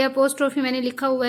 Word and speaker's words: apostrophe: अपोस्ट्रोफी इसका pronunciation होता है, करेक्ट प्रोनाउंसिएशन।